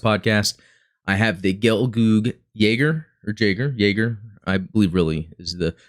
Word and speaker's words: Jaeger: Since the last podcast, I have the Gelgoog Jaeger, I believe really is the pronunciation.